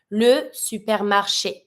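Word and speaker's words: supermarché: end of it so every time you have e that has an accent even if it's at the end of word you pronounce it if we put an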